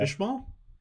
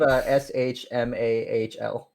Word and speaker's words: Schmal: Is that how I'm Schmal. supposed to say that? Small? I Small. hope not. Oh wait, Small. yeah, it is small. It is small. Okay. All right. Yeah. Ishmael? No, it's spelled SHMAHL.